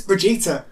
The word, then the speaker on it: Brigitte: not- No, legit is that how it's spelt, and that's apparently, if you pronounce it in Sweden, it's Brigitte.